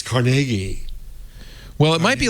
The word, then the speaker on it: Carnegie: Is it Carnegie? Yeah. Carnegie. Oh. Which is it, Jeff? You're the arbiter. I've always said Carnegie. Mm-hmm. But you're right. But when you hear NPR. The announcement, it's Carnegie.